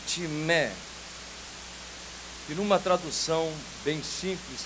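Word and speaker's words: τιμή: A palavra grega para honra é timé, que numa tradução bem simples quer dizer valorização. Quando se pronuncia no grego timé, logo se pensa em algo muito valioso, precioso, algo de peso, tal como o ouro.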